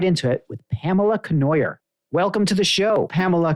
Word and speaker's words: Cournoyer: pronounce it you like just rhymes with annoyer that's right pamela conoyer rhymes with you remember